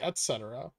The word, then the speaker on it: etc.: I say etc. I just say, I think that's just my accent. But I pronounce the T.